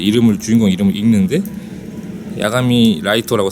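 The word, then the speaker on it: 月: 장면이 나와요 데스 노트에서 주인공 이름이 야가미 라이터라고 해가지고 이런 한자를 쓰는데 그 주인공의 이름 그니까 키라고 쓴 다음에 그걸 라이터라고 읽는 거예요 그렇기 때문에 거기서 나오는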